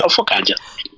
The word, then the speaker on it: Ofokaja: So, my name is Ofokaja. Ofokaja, I'm not sure I pronounced it properly. Ofokaja. Yeah, Ofokaja. So age 41, occupation, certified public accountant.